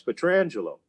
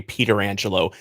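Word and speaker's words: Pietrangelo: if you want but if you ask him how he pronounces his name he'll tell you it's alex petrangelo and not long after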